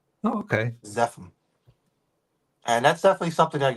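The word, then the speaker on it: Zephum: in your book the actual term is the zepim which looking back it again zepim I have no idea why it shows that name how do you spell that z p h u m oh okay zepim and that's definitely something I'd go back and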